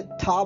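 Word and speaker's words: 他: ये ता नहीं बोला जाएगा, ये था बोला जाएगा, थर्मोस वाला था। ओके, चाइनीज में टी को थ बोला जाता है, तो इसलिए TA को बोला जाएगा था।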